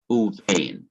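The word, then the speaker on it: וּבֵין: this form, U, and you would pronounce it uvain, meaning and between.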